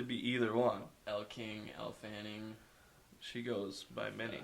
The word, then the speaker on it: Elle Fanning: Elle Fanning.